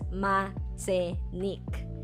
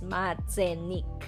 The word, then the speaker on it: Machenike: It is pronounced as Matenic. So, it's not Matenic or whatsoever. It's Matenic. So, I would like to thank the person who corrected me from my previous vlog.